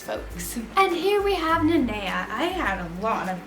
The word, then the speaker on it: Nanea: So now I have to call her Nanea because I got a lot of hate on that video that I was pronouncing her name wrong.